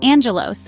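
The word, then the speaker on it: άγγελος: the word Angel for instance in Greek it's pronounced Angelos while in Spanish it's angel or consider the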